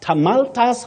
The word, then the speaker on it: tumultuous: Now, many people find themselves saying tumultuous welcome. Tumultuous welcome, no. You say tumultuous.